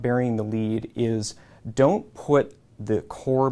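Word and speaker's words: lede: as not burying the lead. Lead here is spelled L-E-D-E, which rhymes with L-E-A-D. There are obscure reasons as to why journalists use that word. But the concept of not burying the lead is don't put the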